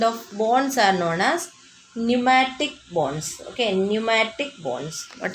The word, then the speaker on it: pneumatic: That kind of bones are known as pneumatic bones. Okay, pneumatic bones. What are they? Pneumatic. P is silent.